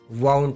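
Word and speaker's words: wound: पूरा और उच्चारण करना वंड इसका अर्थ होता है जखम या घाव और विंड का सेकंड और थर्ड फॉर्म भी होता है लेकिन इसको वहां पर वाउंड पढ़ा जाता है लेकिन स्पेलिंग यही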